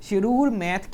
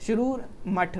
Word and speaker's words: शिरूर मठ: इसके अलावा शिरूर मैथ case, शिरूर मठ, नॉट मैथ, इट्स मठ, सॉरी फॉर द रॉन्ग